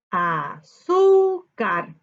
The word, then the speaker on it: azúcar: Muy bien, ahora debemos buscar la sílaba tónica, que es donde se carga la voz. Azúcar. Azúcar. ¿Dónde se carga la voz? En su. Muy bien.